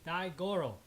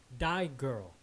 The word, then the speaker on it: Daigoro: He's Daigoro. Tree mispronounced by saying Die Girl.